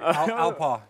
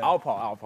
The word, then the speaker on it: Alpaugh: Alpa. Yeah. Alpa. Yeah. Okay. So there's 3 silent letters at the end of my last name, so okay.